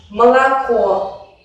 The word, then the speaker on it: молоко: Por ejemplo, молоко. Solo se pronuncia de una manera plena la última vocal O, que es tónica, y el resto se reducen.